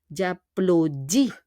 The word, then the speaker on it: applaudis: Donc, j'applaudis. On prononce pas le S. Et on need to connect je et a.